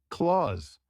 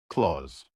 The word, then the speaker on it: clothes: Correct? Claws. It's just 1 syllable. Claws.